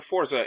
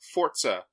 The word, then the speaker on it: Forza: Screen Rant it's when when referring to Forza it's Forza and not Forza okay this was from